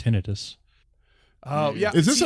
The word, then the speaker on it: tinnitus: It's actually pronounced tinnitus.